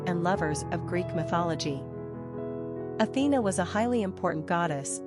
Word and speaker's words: Athena: ranking popularity 218 pronunciation Athena simple meaning sharp praise Lady of Athens wisdom